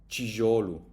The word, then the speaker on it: tijolo: And the T, if the T is followed by an I, it will always become a chi. Tijolo.